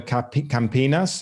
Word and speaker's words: Campinas: oxo and ampm seem to focus on the campinas is that how to pronounce it area of sao paulo yes yes